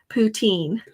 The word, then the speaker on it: poutine: me another um just send me an email poutine thank you yep that's that's what they said